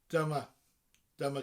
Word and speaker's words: Dyma: Now, of course, it's spelled differently, but it sounds the same as the English word. It's spelled D-Y-M-A.